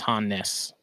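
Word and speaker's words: Hannes: Yeah, I was calling him Hans for like 2 or 3 weeks, and he was finally like, "Hey, buddy," he's like, "It's like 2 syllables. It's Hannis." There's 2 N's, bro.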